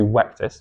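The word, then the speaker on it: Vectis: From Ictin, in the references that we've seen, to Wectis. You've got to remember that V's in Roman were pronounced as W's.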